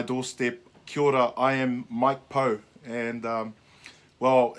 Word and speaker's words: Mike Pau: arrived on my doorstep cured ah I am Mike Poe and well it's actually pronounced Mike power by a lot of my friends they they